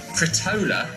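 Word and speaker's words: frittola: Fritola? Fritola? Fritola. I don't know what that is. Actually, it's pronounced fritola.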